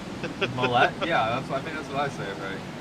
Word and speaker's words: Millette: It seems like you say it more French. That's the Canadian in me, I guess. I say it like Gillette. Millet?